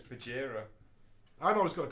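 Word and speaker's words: Bajheera: It's Bajira. I'm always going to call him Badge because he's the big badge. But what's the difference in the pronunciation of those spellings? I'm not going to say Bagheera.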